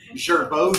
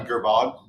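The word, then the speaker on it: Girbaud: Gerbeau jeans. Yeah. The little tag that's on the front. You mean Gerbod?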